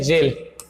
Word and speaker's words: gaol: Spelling यहाँ पर क्या होना चाहिए था भैया, GAOL, ठीक है। तो ये होना चाहिए था, इसको बोलते हैं जेल, इसको बोलते हैं जेल।